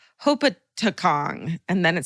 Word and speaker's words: Hopatcong: I went to high school in a small, literally nothing happens town in New Jersey called Hopatcong. And then it says, go ahead, try to pronounce it. It's Hopatcong.